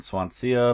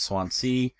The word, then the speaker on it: Swansea: I was saying Swansea, but it's Swansea.